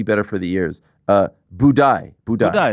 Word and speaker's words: Buday: Uh, budai. Budai. Budai. That's That's what the broadcast calls them. I thought it I thought it was I thought it was budai.